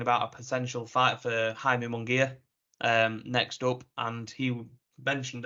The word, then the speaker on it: Jaime Munguia: Jaime Munguia.